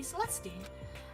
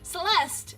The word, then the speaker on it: Celeste: you you call me celesy she's polite but pretty forceful at the same time don't pronounce the E okay Celeste okay right Celeste I apologize for pronouncing